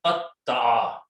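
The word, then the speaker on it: قَطَّعَ: is Bab number 2, we put a shadda on the middle letter. And so this will become qaf, ta with a shadda, and ayn. So this word is pronounced as a qatta'a.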